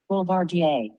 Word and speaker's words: Boulevardier: We are drinking the Boulevardier, and because neither Greg or I were 100% sure how to pronounce the drink, we asked Google. So Google, hit it. Boulevardier.